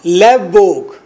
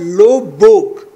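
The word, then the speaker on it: Løvborg: you know आइलर्ट लवबोग, आइलर्ट ई जी जे, जे को silent कर आइलर्ट कहना है, आइलर्ट जे साइलेंट, आइलर्ट लोव बोग, आर को साइलेंट करना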